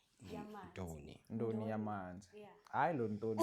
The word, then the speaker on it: Ndoni: Okay, first off, it's Ndoni. Ndoni.